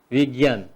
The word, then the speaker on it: विज्ञान: लागेका, we plus ज्ञान, विज्ञान, लेख्दा वी भनेर लेख्छौं तर यसको उच्चारण बी हुन्छ भाइ बहिनीहरु, विज्ञान।